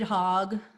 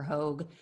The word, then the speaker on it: Hogg: so that was david hogg i believe it's pronounced hog or hogue she was following him